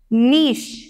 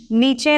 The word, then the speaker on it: niche: नीश, नीचे नहीं, इट्स नीश।